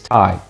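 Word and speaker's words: Tighe: my name's well my name actually is tai but it's spelt different the correct spelling of my name is t-i-g-h-e it's irish it's my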